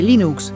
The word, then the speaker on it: Linux: Cuarto dato curioso para demostrar cómo se debe pronunciar la palabra Linux, Torwals incluyó una audioguía con el código fuente del kernel. Hello, Linux and Linux Linux.